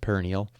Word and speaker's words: peroneal: would be something called the peroneal tendon i think some people pronounce it perennial it is on the